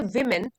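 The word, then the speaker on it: woman: और सिंगुलर इसका होगा डब्लू ओ एम ए एन उसको प्रोनाउंस करते हैं वुमन वुमन प्लूरल हो जाएगा वमन वमन इन मेनी सोसाइटीज आर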